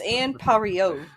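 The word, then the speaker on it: Anne Parillaud: was later go on most of them butchered her name oh really go for it it's Anne that's okay that's a very thick accent it's Ann parrillo Mario yeah I appreciate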